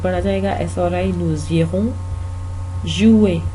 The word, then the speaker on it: jouer: SRI, nous irons jouer, jouer, इसका are pronounce नहीं होता, jouer नहीं बोलना, jouer अगर आप बोलेंगे तो उसका मतलब कुछ और बन जाता है। jouer का मतलब है प्लेयर जो होता है, लेकिन उसके स्पेलिंग अलग होते हैं, तो ये jouer की तरह प्रोनाउंस होता है, jouer, jouer, jouer।